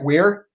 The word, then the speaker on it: Weir: If I'm pronouncing his name right, it's Robert Weir. Is that right, Weir? I think you're right.